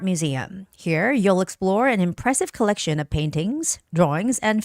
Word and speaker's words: impressive: And when you're reading the word impressive, that also has a second syllable stress, impressive, impressive.